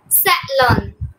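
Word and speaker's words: salon: আচ্ছা এখন ফারহিন বলো, এস এ ও ও এন এটা উচ্চারণ কি হবে? স্যালন, স্যালন।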